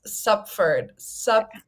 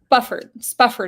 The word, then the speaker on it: Spufford: By Francis Stupford. I really struggle with pronouncing this author's last name because SP is a hard sound for me to make. Okay, I gotcha. Spufford is their name.